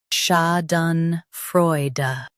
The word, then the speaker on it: Schadenfreude: Schadenfreude Schadenfreude Schadenfreude Schadenfreude Stress Freude and keep da soft.